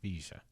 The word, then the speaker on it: Visser: It's spelled Visser, but he said Visser.